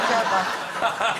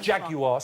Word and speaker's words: Jaguar: no not a jaguar jagar if you're going to promote them at least learn to say it properly how am I saying Jaguar three syllables over here yeah you say you're